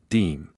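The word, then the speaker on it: disme: creation of the dime, originally known as the dime, pronounced deem.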